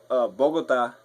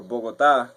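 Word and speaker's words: Bogotá: If you're wondering, I'm from Bogota, or Bogota, whichever you want to pronounce it.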